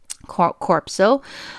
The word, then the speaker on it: corpuscle: I like to call it corpuscle, but then it's actually corpuscle. Okay, corpuscle is the correct pronunciation. Okay, to me, sometimes I rather remember it as how I know how to spell it, okay? But the proper way to call it is corpuscle, okay?